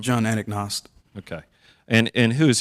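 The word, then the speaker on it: Anagnost: names in the city what's how do you pronounce his last name John anaknost okay and and who is he with John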